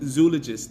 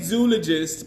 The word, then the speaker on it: Zoologist: So how does the elephant from Zoologist smell? I say zoologist because that's the proper pronunciation of the word, but the company itself says zoologist.